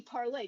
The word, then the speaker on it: Parler: And you can also see me on Parlay. It's actually Parlay, just like Parlez-vous, but it's spelled Parler.